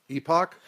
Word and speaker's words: Epoch: Epoch. Epoch. I think that's a better way to let people know that you're saying you're not saying epic.